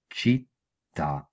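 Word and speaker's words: città: হ্যাঁ লা লেতেরা সোন দল এজ উন্দিচি লেজি চিত্তা চিত্তা ছিন ছিন চে রত্ত চেত চিন্ত্র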